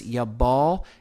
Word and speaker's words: Yaval: Now, as we've mentioned before, I'll mention here again, in the Hebrew language, the sound V and the sound B can be interchangeable many times.